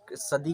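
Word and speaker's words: Sadi: इसकी प्रोनाउंसिएशन इनके नाम की थोड़ी सी डिफरेंट है, सभी टीचर जो है अलग अलग करते हैं, कोई कुछ सदी करता है, कोई सैडी करता है।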